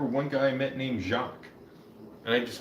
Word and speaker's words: Jacques: Oh yeah, I remember one guy I met named Jacques, and I just called him Jacques.